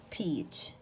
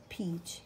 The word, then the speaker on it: peach: peach peach peach فاكهة الخوخ أو المشمش. peach p e a c h. الـ EA عندنا الـ E long طويلة والـ A silent.